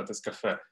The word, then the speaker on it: TestCafe: є, це французька літера тест-кафе. Її потрібно говорити, наголос ставити на останню літеру, це кафе.